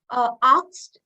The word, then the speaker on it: asked: also i i have asked so many people no it's always asked you always pronounce the s before the k so we have to